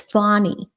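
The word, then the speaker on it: Fani: correct everyone else like no it's Fawnie that is the correct pronunciation of her name.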